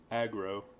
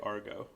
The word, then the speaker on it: aggro: Aggro. I used to say Argo. Argo.